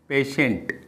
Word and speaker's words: patient: पेशेंट, PATIENT, पेशेंट. Next TIO we pronunciation hair से.